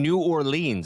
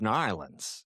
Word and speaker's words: New Orleans: It's like saying New Orleans. It's New Orleans.